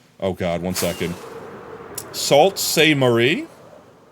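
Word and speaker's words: Sault Ste. Marie: Salt Semarie. Did I say that right? Salt seam marie that close. Yeah. Yeah. E A U is O in fraction.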